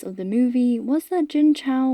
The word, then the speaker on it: Jin Chao: But one argument I kept seeing in defense of the movie was that Jin Chao, which is the questionable anglicized pronunciation of her name but the only one made available, was just meant to